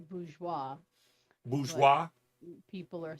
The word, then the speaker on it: bourgeois: The technical pronunciation is bourgeois.